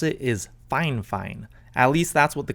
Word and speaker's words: Fifine: And by the way guys, I know that it's spelled Fifine, but apparently the correct way to pronounce it is Fine.